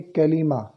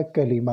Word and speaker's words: کلمہ: یہ ذہن میں رکھیں، کلمہ یہ درست تلفظ ہے۔ بعض کلمہ پڑھتے ہیں تو درست تلفظ اس کا کلمہ ہے۔ کلمہ کی تعریف، کلمہ کسے کہتے ہیں؟